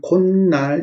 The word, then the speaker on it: 콧날: 그 다음 앞말이 모음이고 뒷말이 니은 미음일 때 니은이 첨가될 때 코하고 날 하면 발음이 콧날 이렇게 됩니다.